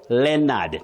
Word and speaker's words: Leonard: Just like Leonard not Leonard. The O in that name is silent.